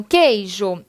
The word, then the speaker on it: queijo: em queijo por exemplo então é quando ele tem o som de q e que então queijo eu não pronuncio a letra u e a mesma coisa